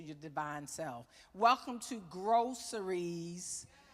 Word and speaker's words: Grow Series: Welcome to Groceries. Pronounced groceries, but actually spelled Grow Series.